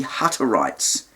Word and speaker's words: Hutterites: Um, in the early days of setting up the community, they had contact with the Hutterites. It's spelled with two T's, Hatter and then itesites. Hutterites.